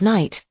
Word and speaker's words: knight: His friend Kate the Kangaroo explained in words like knight. The K is silent but it's still there. Max practiced saying I am a brave knight and felt proud.